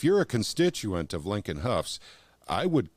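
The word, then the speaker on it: Hough: So once again, Lincoln Huff, and it looks like How, but it's pronounced Huff, Lincoln Huff.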